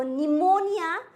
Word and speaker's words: pneumonia: So pneumonia, there is the P is silent.